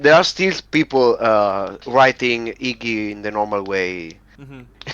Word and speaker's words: Yggi: yes, it's Iggy. You pronounce it like it was with an I at the beginning, a Y at the Mm-hmm. end, and that was it.